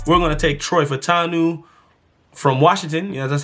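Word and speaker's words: Fautanu: of Trevor Lawrence we're going to take Troy fanu from Washington yeah that's how you say his name guard Troy fanu from Washington he play tackle of Washington well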